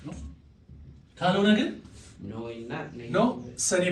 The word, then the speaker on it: non: n አለች የመጨረሻው n ግን n is silent የመጨረሻው ማለት ነው ሶ ልክ እንደ እንግሊዘኛው ነው የምናነበው ማለት ነው ኖ ነው የምንለው ግን ኤንን እንጽፋለን ልክ እንግሊዘኛ ኖ እንደሚመስል ማለት ነው ስለዚህ ክሊር ካልኩኝ